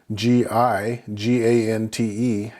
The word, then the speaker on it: gigante: So again, you can see in those two examples, GE and GI makes the H sound, whereas normally the G or the G makes the normal G sound like in English, G.